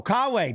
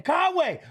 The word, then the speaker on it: Kawe: Oh, Kawe. That is how you say his name. Kawe.